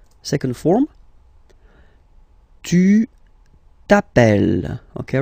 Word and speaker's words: t'appelles: Second form, tu t'appelles. Okay, remember, final S not pronounced.